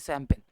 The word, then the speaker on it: champagne: शैंपेन की spelling ये होती है, ठीक है, CHAMPAGNE, दैट इज शैंपेन।